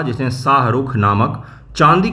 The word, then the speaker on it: शाहरुख: Who among the following rulers introduce the silver coin name शाहरुख। शाहरुख शाहरुख शाहरुख बोल देते हैं लोग। शाह रुख ये सही उच्चारण होता है।